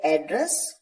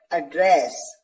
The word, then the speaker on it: address: तो जब एड्रेस को, जब इस पर्टिकुलर वर्ड ADDRESS को एज अ नाउन यूज किया जाएगा तो आप इसे प्रोनाउंस करेंगे एड्रेस, जिसका मतलब है पता। और जब इसे एज अ वर्ब प्रोनाउंस किया जाएगा तो इसे प्रोनाउंस करेंगे एड्रेस, जिसका मतलब है संबोधित करना।